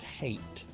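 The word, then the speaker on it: Hait: Um my adviser very politely corrected me and goes, "Um, no, actually it's pronounced hate. Dr. Hate."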